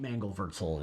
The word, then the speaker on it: Mangelwurzel: Is that how you say it? Mangelwurzel is the German pronunciation.